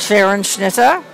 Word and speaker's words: Scherenschnitte: in wyomissing and i'm going to let her pronounce what her art is go ahead it's called sharon schnitzer and sheeran snither means what literally translated from german it's being